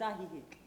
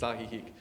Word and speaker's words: Ajijic: It's Ajijic. Ajijic. Okay, well, Franny's the arbiter of this, and it's Ajijic.